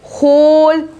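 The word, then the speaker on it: whole: फिर होल, होल, इन सब में W का आवाज नहीं आ रही है, W साइलेंट लेटर से आप इतने सारे वर्ड्स में जो है देख सकते हो।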